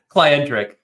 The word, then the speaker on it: Clientric: Clientric. Clientric. Just combining client and centric.